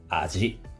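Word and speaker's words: 味: Les prononciations sont « aji », « aji-wau » ou « mi ».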